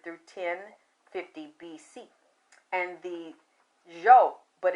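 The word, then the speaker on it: Zhou: And the Zhao, but it's spelled Z H O U, but it's pronounced Zhao.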